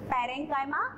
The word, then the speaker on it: parenchyma: Little bit different pronunciation, but pronounce like this only, parenchyma and sclerenchyma.